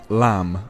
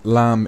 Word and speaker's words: lamb: We can also eat lamb, and lamb is just baby sheep.